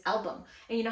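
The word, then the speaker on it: Albom: he says by Mitch album could have fooled me my entire adult life I've been saying Mitch aam like the L is silent well that's a lie so I read the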